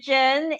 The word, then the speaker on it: Cheng: Hi everybody, my name is Cheng [The Ch makes a J sound, and the G is silent] and I'm the education and outreach specialist for Campus Advocacy Network, uh, wow I'm so excited!